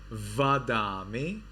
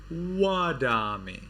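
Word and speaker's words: vandāmi: instead they have wa so this is not Vada me it is wadami this is not Vada it is and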